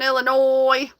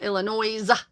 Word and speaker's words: Illinois: Um Cornfest, who's going to Cornfest here in Illinois? The S is silent. It's not Illinois.